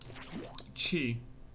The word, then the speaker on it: chi: How do I pronounce that character? Is there an X in the Greek alphabet? Chi.